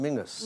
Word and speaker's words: Menzies: And you have Menzies up in Scotland, which is pronounced Mingus. Mingus, yeah.